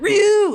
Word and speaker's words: Ryu: He's like, Ryu. I was like, Ryu. That's how you say it.